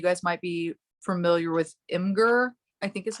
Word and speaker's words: Imgur: You guys might be familiar with Imgur, I think is how you pronounce it.